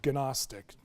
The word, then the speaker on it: Gnostic: That's spelled with a G, so Gnostic.